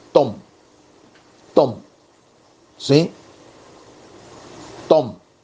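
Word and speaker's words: תם: letras del alefato hebreo la letra taf y la letra mem taf y men se lee Tom Tom sí Tom y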